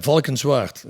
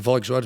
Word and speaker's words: Valkenswaard: Valkenswaard. Yeah. Whoa. You don't even know how to pronounce it. How you spell that? Valkenswaard.